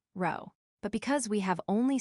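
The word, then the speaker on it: rho: We could find the population correlation coefficient which is labeled as the Greek letter row pronounced row.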